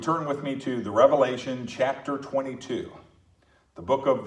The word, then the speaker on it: Revelation: the Bible the revelation it is not revelations plural and a lot of people mispronounce that book and they say the